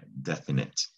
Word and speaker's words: definite: we've got definite now it's tricky because it does it looks like definite but you don't that silent e doesn't make that that i they're long it's a short eye definite so that's something to